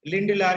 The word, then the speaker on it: Lindlar: जो है, इसको हम लोग क्या बोलते हैं, लिंडलार कैटलिस्ट।